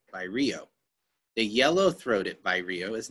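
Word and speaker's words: vireo: white eyed first and I think I said it wrong by Rio I'm sorry by Rios how you would say that so that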